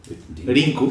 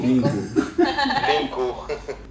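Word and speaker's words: リンク: ¿Cómo se pronuncia Link en Japón? Rinku. Rinku.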